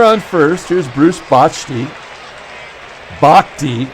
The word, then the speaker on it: Bochte: Bochte, I guess, is the proper way to pronounce it.